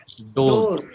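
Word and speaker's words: דוד: Dode. Huh? Road. Dode. Dode. Repeat after me. Dode.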